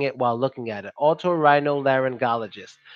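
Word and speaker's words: otorhinolaryngologist: should I do it I would say okay Otto Otto that's the first part Otto is good to remember because we say this a lot in other words Otto it's almost like Otto like automobile so you start with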